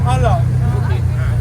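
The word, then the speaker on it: Qala: Alors, on ne prononce pas le Q, on dit simplement Allah.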